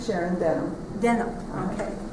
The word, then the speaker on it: Denham: Denham. Okay. It's like jeans. Yeah. D-E-N-H-A-M. O-H. Okay. But you say it like your jeans.